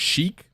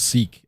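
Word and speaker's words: Sikh: I thought it was Sheik, but a friend of mine has told me it's pronounced Seek, S-E-E-K.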